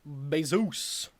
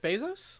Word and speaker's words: Bezos: Chris lignans you are Jeff besos that's not so how you say it Jeff Bezos oh oh no yeah